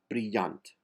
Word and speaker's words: brillant: Uls desguard brillant. Uls desguard brillant. The last T in brilliant is silent.